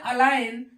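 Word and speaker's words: align: एन इसको पढ़ते हैं अलाइन और ला पढ़ते है इसमें जी क्या है जी का उच्चारण नहीं करते हैं या जी साइलेंट है दूसरा है एस आई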